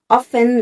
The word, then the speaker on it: often: ပ ြ ီ း တ ေ ာ ့ often လ ိ ု ့ pronounce လ ု ပ ် က ြ ပ